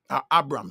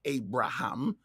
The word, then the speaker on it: Abram: Abram, sorry. Yeah, that's still his name. It's still pronounced Abram, not Abraham. It's pronounced Abram.